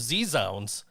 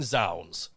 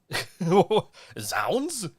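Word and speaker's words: zZounds: know what trips me out is is sounds is spelled z-z-o-u-n-d-s and i always i was z-sounds until i had to call them one day and they're thank you for calling sounds like right wait calling who what sounds is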